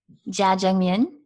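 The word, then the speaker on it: jajangmyeon: Korean dish how do you say they got jajangmyun it's black bean noodles Wow okay Joe jet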